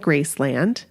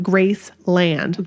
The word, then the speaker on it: Graceland: right kind of like Graceland yes yes yeah Graceland which we always have called it Graceland yeah you don't call it Grace Land like Disneyland they call it Graceland like one word Graceland like in Australia Melbourne